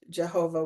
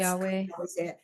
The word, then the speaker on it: Yahweh: It's often pronounced Jehovah, which isn't so great because there was no J in Hebrew, but still, that's Yahweh.